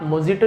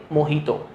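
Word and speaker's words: mojito: तो वहाँ पे आप मोजिटो नहीं बोलेंगे, क्या बोलेंगे, मोहितो, ठीक है। वर्जिन मोहितो, मोहितो बोला जाता है।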